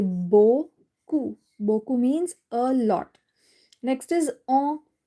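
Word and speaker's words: beaucoup: So the p is not pronounced at the end. Right? We say bou. Boku means a lot.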